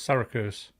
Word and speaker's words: Syracuse: Canadian kid from, is that Syracuse? Is that how you say that, Lee? You were close, Syracuse. I'm well known, everybody, for not getting my pronunciation correct, being from the northeast of England.